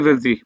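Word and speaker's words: ف: ওইটাও শেষের দিকে লাগবে শুধু ফাটা উচ্চারণের প্রথম দিকে লাগবে প্রথম দিকে মানে কিসের সাথে লাগবে সামনের উপরে দুই দাঁত নিচের ঠোঁটের ভিজা অংশের সাথে লাগবে এই মাজিদুল ভাই বুঝছেন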